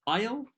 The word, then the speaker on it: aisle: aisle الاس لا تنطق.